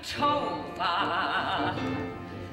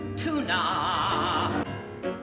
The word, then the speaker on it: Tovah: Won't you please call me Tovah? Not Tuna.